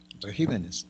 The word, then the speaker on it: regímenes: Regímenes, antepenúltima sílaba.